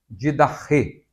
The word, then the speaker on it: didache: Por isso, é necessário incluir doutrina, didache, que nós também falamos didache, não é? A pronúncia mais próxima do grego seria didache.